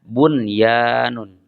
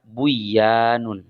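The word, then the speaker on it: بُنْيَانٌ: sehingga dibaca izhar kilmi contoh kata bunyanun bunyanun ada nun sukun Kemudian bertemu dengan Ya dalam satu kata maka dibacanya bunyanun tidak dibaca Buyan contoh lain Sin wa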